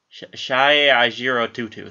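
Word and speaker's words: Seyi Ajirotutu: Shai Ajiro Tutu.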